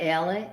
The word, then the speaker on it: Alex: alec alec yeah it's spelled alex yeah they pronounce it alec can you call me